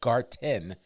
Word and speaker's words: Garten: There is a beer garden, Garten, that's the proper German pronunciation of it, Beer Garten, that's opening up, but just means beer garden.